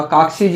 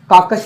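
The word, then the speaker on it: carcass: किसी भी जानवर का, काकसीज यानी होता कंकाल, काकस यानी होता कंकाल, CAR काकस यानी होता, इसमें रह होता लेकिन रह साइलेंट होता, काकस यानी होता कंकाल,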